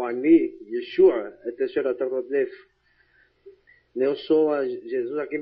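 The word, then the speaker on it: ישוע: Por exemplo, a gente sabe que a pronúncia hebraica de Yoshua a pronúncia aramaica de Yoshua é Yeshua, a gente sabe disso, né?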